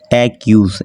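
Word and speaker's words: use: এক ইউজ উচ্চারণ আসছে বাট ইটার উচ্চারণ হয় না কিন্তু একটা শব্দ শেষে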